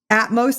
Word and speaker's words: Atmos: Atmos. Like atmosphere.